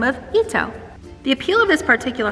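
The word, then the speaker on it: Itoh: it is called an ito peony it is spelled i-t-o-h but it is pronounced ito it is a hybrid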